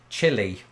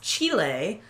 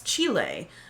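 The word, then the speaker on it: Chile: and speaking of Spanish I used to pronounce this chillie and i think most people in britain do but I've since evolved my pronunciation because of this one well it's chilly because it's the place chilly but if you were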